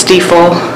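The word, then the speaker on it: Stifel: had been acquired by I believe it's pronounced steeple financial and then also our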